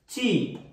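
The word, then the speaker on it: ち: তি, কিন্তু না, এখানে আমার তি হবে না, এখানে আমার হবে চি, চ।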